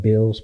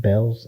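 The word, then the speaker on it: Bealls: got a a new bills I call it bills but it's called It's pronounced Bells it's a department store okay like kind of like a Burlington Coat Factory yeah we SP bills but it's pronounced Bells yeah yeah I spell ad space to them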